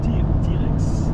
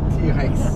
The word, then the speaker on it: TRX: En anglais, ça se prononce TRX, c'est comment? T-Rex. T-Rex.